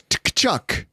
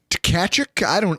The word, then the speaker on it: Tkachuk: So I say, oh, it's Kachuk. Tkachuk? It's Tkachuk? And then you go, no, that T is silent.